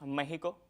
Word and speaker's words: México: una cuestión de preservar esa ortografía arcaica en la que la X tenía ese fonema de J, por eso es que decimos México con J, para respetar todo esto